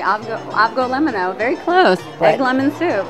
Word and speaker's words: Avgolemono: And I'm sure I'm not pronouncing it correctly. You're saying it right. Avgo limono.